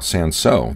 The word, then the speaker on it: Cinsaut: How about Cinsaut, that you'll see spelled with or without the L, though pronounced in the same way in either case?